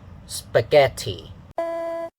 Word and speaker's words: spaghetti: if you are affected by the spelling, some Hong Kong people say spaghetti, the spag. You change the vowel sound to the same as the second syllable, the e sound.